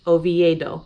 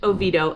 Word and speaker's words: Oviedo: maybe a different language we don't need all those extra syllables so if you want to sound like a local pronounce it oviedo and everybody will know